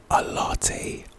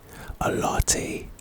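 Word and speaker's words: Alarte: Vore anyway we move a lat ascendere pronunciation ah L Ascender a a lat a lat a LTE can I have a latte please thank you very much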